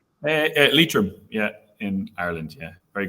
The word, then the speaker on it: Leitrim: Leitrim, yeah, in Ireland.